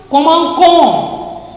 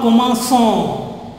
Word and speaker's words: commençons: cédula, this pronunciation becomes commencon, not commençon. Commencon, C-O-N-S, con, not son. Understand? So, to retain the pronunciation of son, we write this cédula.